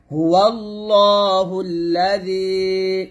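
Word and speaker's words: هو الله الذي: হুয়াল্লাহুল্লা, জাল ইয়াজেরি জি, এই জালটা পাতলা হবে। যখন জালটা উচ্চারণ করবেন জিহ্বাটা উপরে তার আগে লাগিয়ে পাতলা করে উচ্চারণ করবেন। হুয়াল্লাহুল্লাযী, এরকম ভাবে। আবার বলেন হুয়াল্লাহুল্লাযী, আবার বলেন, বারবার বলেন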